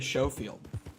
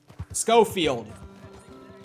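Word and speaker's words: Schofield: just like an upgraded show field scofield i feel so dumb ever since my friend pointed out to me that it's not pronounced show field i felt dumb because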